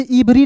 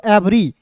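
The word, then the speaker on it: every: तो इसे इवरी नहीं पढ़ेंगे। इसे पढ़ते हैं दोस्तों। एवरी इवरी नहीं पढ़ना है। इसे पढ़ना है एवरी।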